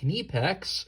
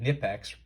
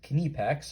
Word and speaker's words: Knipex: brief overview of this knife which is a knee PEX and yes that is how you pronounce that word I know we're probably used to saying nif X by now but it is kidney packs I actually checked on their website um 16